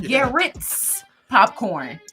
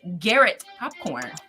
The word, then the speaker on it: Garrett Popcorn: Like Garrett's popcorn. Yeah. But it's Garrett popcorn.